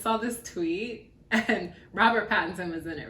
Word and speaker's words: Pattinson: this tweet and robert pattinson was in it right yep okay yeah is it patterson or pat it's pattinson my mother and i